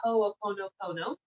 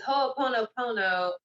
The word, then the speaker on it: Ho'oponopono: of energy healing called Ho'oponopono. And it's pretty much phonetically, it's like spelled the way it sounds. Okay, so Ho, not H-O-E, H-O. There's an apostrophe and then O, Ho, no, Ho, no.